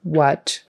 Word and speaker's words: what: So we've got what, spelled with an A, but you say it like a short U, what.